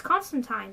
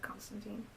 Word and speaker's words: Constantine: It's Constantine, but everyone pronounces it Constantine.